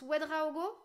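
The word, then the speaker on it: Ouédraogo: C'est juste comme je le prononce, Wedraogo, ça se dit comme ça.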